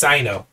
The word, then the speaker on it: Syno: It's Syno. So I've been mispronouncing it this entire time.